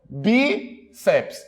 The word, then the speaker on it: bíceps: palavra bíceps quantas sílabas Cuidado não vá dizer que são três sílabas ah Rodrigo Mas é uma abra a boca três vezes não quantas vogais eu tenho duas então quantas sílabas eu vou ter duas eu não posso dizer que eu tenho biceps ó bi seps duas sílabas Qual é a mais forte delas olha os bíceps demora mais no bi paroxítona terminada em ps